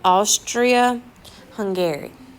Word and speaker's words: Austria-Hungary: to the Empire of Austria Hungary all right again some people stay hungry Austria-Hungary is how we're going to say it okay and he is